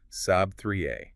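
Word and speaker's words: سبعة: Seven is sab 3a. Saab 3a. Okay. So, it's not saba, it's sab 3. Engaging the throat muscle. You're getting the hang of it. Sab 3a.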